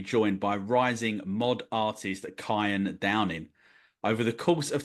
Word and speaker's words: Cian: It's pronounced Cian, not Cian.